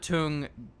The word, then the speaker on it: Tunguska: Going for some Kodiak tank mixed in with the Tunguska. Oh man, I'm pretty sure you nailed that. Tunguska.